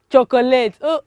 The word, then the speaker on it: chocolate: okay so for the first one we have c-h-o-c-o-l-a-t-e how do you pronounce our word children chocolate oh you're so wrong it is chocolate ah